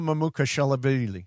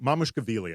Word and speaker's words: Mamukelashvili: One of the guys I mentioned, the really hard to pronounce guy. I'm just gonna say Sandro. Sandro Mamukelashvili. Yep. Mamukelashvili, I believe.